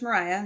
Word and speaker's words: Mariya: I mean, I'm still love coach Mariah.